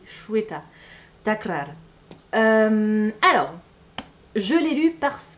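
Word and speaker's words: Shveta: ne m'en souvenais plus je savais que c'était pas jveta c'est Cheta alors je l'ai lu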